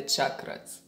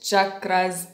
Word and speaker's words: chakras: relationships relationship with the chakras reminder it is pronounced chakras not chakras in sanskrit that's how it is pronounced in sanskrit with with chakras thing